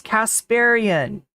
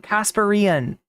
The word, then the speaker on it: Kasparian: to just be like, it's Kasparian? It's not Kasparian, or whatever, however else somebody wants to pronounce it.